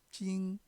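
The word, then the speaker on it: 京: 중국어 발음으로는 찡, 북경을 가지고 베이징 하죠. 베이징. 찡이라고 발음합니다. 서울경.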